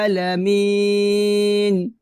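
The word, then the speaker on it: العالمين: সাথে বলবেন, আলহামদুলিল্লাহি রব্বিল আলামিন রব্বিল আলামিন। একসাথে, আলহামদুলিল্লাহি রব্বিল আলামিন। আবার আলহামদুলিল্লাহি রব্বিল আলামিন আলামিন। এখানে এক লিপ টান হবে এবং আইনটাকে গলার মাঝখান থেকে চাপ দিয়ে উচ্চারণ করতে হবে।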